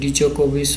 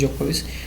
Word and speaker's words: জোকোভিচ: ডি জোকোভিচ ওরকম হয় না, প্রোনাউন্সিয়েশন হচ্ছে জোকোভিচ, ডিটা সাইলেন্ট, 1 নম্বর অপশন নাম্বার ই হচ্ছে আনসার।